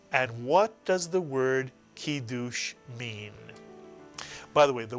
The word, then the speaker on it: kiddush: Put the word together and you get the Hebrew word kiddush. Mitsuyan, kiddush. And what does the word kiddush mean?